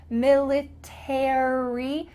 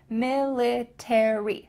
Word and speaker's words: military: Make sure that in American English you pronounce those final three letters, military.